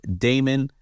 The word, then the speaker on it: Daymond: And of course, you can all connect with me on any of my social media platforms at theshark Damon, spelled like Raymond, but what a D.